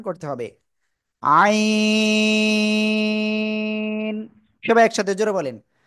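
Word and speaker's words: عين: আপনাকে তিন আলিফটা নিয়া না চার আলিফটা নিয়ে উচ্চারণ করতে হবে। আইন সবাই একসাথে জোরে বলেন। আইন মাশাল্লাহ।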